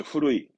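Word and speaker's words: 古い: 발음은 추거. 추거. 이거 말고도 훈독이 많았죠. 오래된 낡은 건 그렇죠. 후루이.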